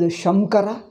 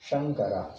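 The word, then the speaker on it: शङ्कर: Now, do you pronounce it as Shamkara? No. Then how do you pronounce? Shankara.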